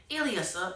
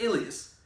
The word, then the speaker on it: Elias: So this one dude named ELIAS, that's what they say his name, ELIAS, but it's ELIAS.